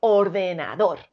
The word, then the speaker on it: ordenador: dos ordenador como veis la forma correcta de pronunciar ordenador es con la sílaba tónica en dos ordenador y vamos con la siguiente